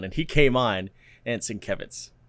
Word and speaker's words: Sienkiewicz: Bill Sienkiewicz? Yeah. That's how you pronounce it. I was watching a New Mutants Roundtable on Comic-Con, and he came on, and Sienkiewicz. Sienkiewicz?